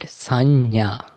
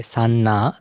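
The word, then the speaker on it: saññā: And then the fourth one, we call it sanya. You may find it difficult to pronounce. Sanya. give it a try. Like it's like SA double NA, Sanna. It's not like to the up N.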